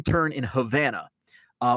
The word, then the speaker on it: Havana: a wrong turn in Havana uh which actually is pronounced and spelled the same as Havana Cuba uh I took a wrong turn in Havana I was supposed to